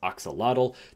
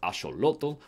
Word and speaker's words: axolotl: states like I did you probably pronounce the species as oxel through this video I will be pronouncing it as asoto which is the pronunciation underneath the original noal language so if you want